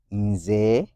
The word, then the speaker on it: Nze: Remember, Nze comes from N-Z-E. Is that a vowel letter? Yes, and it is E. How is E pronounced according to vowel letters? A. So N-Z-E will form Nze.